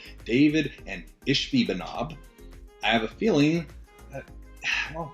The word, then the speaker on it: Ishbi-Benob: And honestly, I had to Google it to make sure I was pronouncing it right. What is it? Ishbi-Benob? Ishbi-Benob.